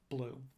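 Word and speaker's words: BLEU: dethroned to blue so if you speak french you're probably cringing at my pronunciation i pronounce it like most english speakers do uh if you run into a french speaker a canadian or a french machine translation researcher they will almost certainly pronounce it the correct french way uh but most people who are not native french speakers pronounce it blue so what does blue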